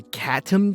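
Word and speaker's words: Catom: So this next tutorial is how to draw hands by Katum G. C A T O M. Like a cat. spelled like a cat, too.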